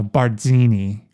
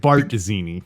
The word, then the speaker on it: Barzini: from new york city how do you pronounce z's in italian because i kept saying i kept saying uh barzini oh right bart dizzini yeah or you kept saying putzo i kept saying putz putzo you're right yeah uh and i